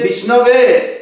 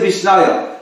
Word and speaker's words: Vishnave: So Lord Krishna says that pandits, they say Vishnave and the fools say Vishnaya.